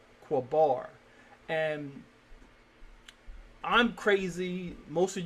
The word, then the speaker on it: Qabar: We inherently, and the theologians, their research supports our glyphs have a short a sound in between them, and this will be Qabar. Qabar.